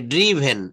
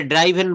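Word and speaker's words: driven: এই যে ড্রিভেন এটা ড্রাইভেন বলবো না ড্রিভেন।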